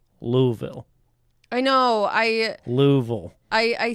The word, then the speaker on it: Louisville: And really quickly, before we move any further, Steph, I have been informed that it is pronounced Louisville.